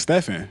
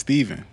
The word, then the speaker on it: Stephen: s-t-e-p-h-e-n yeah yes exactly it could be either one so then it's like the cooler one is Stefan but mine's is Steven so you know there